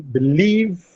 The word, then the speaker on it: believe: Similarly, in believe, canal, suggest. Now these words receive a stress on their second syllable. Leave is stressed in canal, nal is stressed in suggest, jest is stressed.